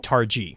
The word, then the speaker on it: targe: Scots oh that's cool targ targ I apologize is the pronunciation that makes way more sense yeah I just was